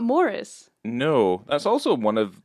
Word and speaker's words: Maurice: every time I say Maurice cuz I going to get slapped today was call it moris it's spelled mauce though otherwise it's it's Morris Morris Morris I've had to put